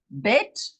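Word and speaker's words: בית: Bet, with a dot inside, is the hard sound. That's the B. That's a ball, or B, and its value is 2. But without the dot, the B, the bet, is a V, a V, a V, as in vine.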